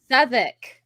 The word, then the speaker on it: Southwark: Well, you know that if it's from the UK, there's a couple of letters in there that you're not supposed to pronounce. They always do And- that. Southwark.